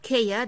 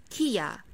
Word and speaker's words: Kia: for this car brand the correct pronunciation is kia kia and the wrong pronunciation is kaya and the correct pronunciation